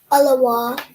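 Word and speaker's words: אלול: So the three parts of this word we have is a la and wow. So a la wow. How do we put that together? Alaw. Alo. Perfect. Well done. So the sixth month is Alaw in Hebrew.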